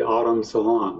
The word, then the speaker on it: Automne: This is the Autumn Salon, huh? Okay. It's spelled like AUTOMNE.